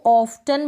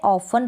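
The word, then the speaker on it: often: फिर यहाँ पर इसको ऑफ्टन बिल्कुल ना पढ़ें, यहाँ पर भी T साइलेंट है, ऑफन पढ़ेंगे। क्या पढ़ेंगे, ऑफन।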